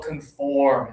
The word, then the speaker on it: conform: but most people will conform at these conventions. So, put up one finger, everybody, and touch right here. Nose and lip again. Oh. Oh. Conform.